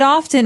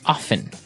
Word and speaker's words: often: time now with pronunciation some people like to pronounce often right they kind of leave out the strong T sound while other people say often right both forms are correct right yes they're both correct so uh you're you're